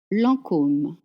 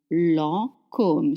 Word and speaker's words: Lancôme: Lancôme is spelled with the funny hat on the O, but it doesn't change anything in the pronunciation. Lancôme, Lancôme.